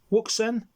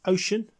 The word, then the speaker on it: Wouxun: not a bayafang but a wuksen or otherwise pronounced ocean or ushan uh various pronunciations this radio has been